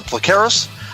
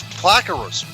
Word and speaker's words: Plakaros: But what our next guest, her name is Plakaras. No, it's not. It's Plakaros.